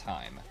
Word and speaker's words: Hime: But like, the English pronunciation of Hime is Heim. Guaranteed. It's not Hime. We don't have, it's called a glottal stop, and we don't have that in most words in English.